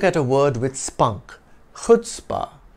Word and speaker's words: chutzpah: Let's look at a word with spunk, chutzpah. Pronounce it chutzpah or chutzpah with that guttural H, like you're clearing your throat with gusto.